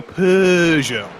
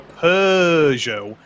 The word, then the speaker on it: Peugeot: the chat saying that my pronunciation of Peugeot makes him giggle. So I'll go more fancy. I'll go Peugeot. That's what the British people always do. They go Peugeot, and that makes American people think that it's Peugeot.